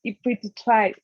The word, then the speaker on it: pituitary: The pronunciation. It will be pituitary.